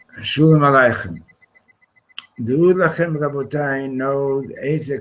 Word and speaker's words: Shalom Aleichem: Okay, Shalom Lachem, Rabbi Isai. Let's give this the right pronunciation for a change. Right? Shalom Aleichem.